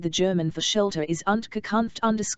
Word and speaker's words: Unterkunft: The German for shelter is Unterkunft.